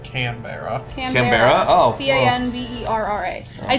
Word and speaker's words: Canberra: Kimberley, Australia. No, it's not Kimberley. It's like Canberra.